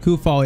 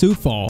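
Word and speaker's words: Coufal: You guys also said it's not Kufal, it's Sufal.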